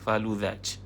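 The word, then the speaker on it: فالوذج: Yang mulia Raja Ajwad, ya, faluzaj. Zal, bukan zai, zal. Faluzaj. Zal, bukan zai. Faluzaj.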